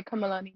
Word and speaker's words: Kamalani: I normally go by I normally go by kamalani yeah but to make it easy everyone